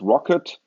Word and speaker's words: rkt: implementation there's something called rkt RTT pronounced rocket which is an alternative